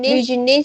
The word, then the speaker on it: business: business Business partner, partner. Okay, very good. But for this, your intonation should be at the first syllable.